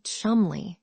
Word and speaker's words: Cholmondeley: You may call Cholmondeley Chumley if you choose, but we commit no crime in pronouncing it as spelled."